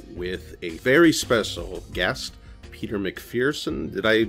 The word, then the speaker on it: Peter McPherson: we are here with a very special guest Peter Macpherson did I pronounce that correctly yes yes good I've been